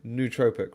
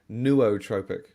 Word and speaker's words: nootropic: See, I've always said nootropic, right? Like NOO, new. I have heard a lot of people say nootropic.